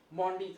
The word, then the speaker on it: Maundy: और इसीलिए हम इसे मॉन्डी थर्सडे कहते हैं, या मॉन्डे थर्सडे कहते हैं। आप किसी तरह से भी इसे प्रोनाउंस कर सकते हैं, दोनों तरह से लोग इसे प्रोनाउंस करते हैं।